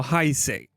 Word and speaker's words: Haise: So Haise, that's the proper way of pronouncing his name.